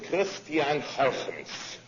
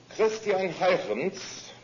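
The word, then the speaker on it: Christiaan Huygens: Some Dutch names just sound that way. His name is Christian Huygens. Christian Huygens, in about 1700, pointed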